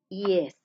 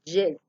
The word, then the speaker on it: yes: Yes. No pronuncien tan marcada la Y de yuca. Jet. Chocolatina jet. El jet, no. Utilicemos como si fuera una I latina y una E latina.